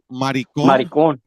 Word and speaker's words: maricón: Maricón. Maricón.